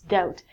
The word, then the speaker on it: doubt: next one is doubt it looks like double - it's not double - its doubt when you doubt something